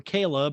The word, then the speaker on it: Chleb: Chleb or Caleb or Chubbs, however you want to call it. We say it Caleb, but it's spelled Chleb because they hate us.